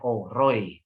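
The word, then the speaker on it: אֵל רֳאִי: El Roy ini pakai hataf kamas ya, dibacanya O Roy ya.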